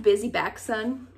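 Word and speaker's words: Bisy Backson: It's like, enjoy where you are, because they talk about this this idea of the, is it pronounced busy back son?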